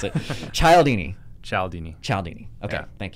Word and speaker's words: Cialdini: Is it Cialdini? Yeah. Okay. I finally know how to pronounce it. Thank you. I always have to be like, I don't know how to pronounce it. Cialdini.